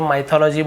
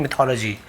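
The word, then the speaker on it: mythology: बहुत सारे माइथोलॉजी बोल देते हैं, बट एक्चुअल में इसका सही प्रोनाउंसिएशन मिथोलॉजी।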